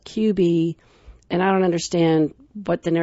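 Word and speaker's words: Cubii: about this device and it's spelled cuu I I and they call it QB and I don't understand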